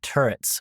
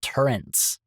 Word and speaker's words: turret: I used to think turrets were called trens like an N. So it was I used to think they were spelled t u r e n t.